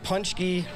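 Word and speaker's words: pączki: So can you kind of help us out on maybe some pronouncers or the singular, or if it's plural? Yeah, Poonch-key in itself with the I at the end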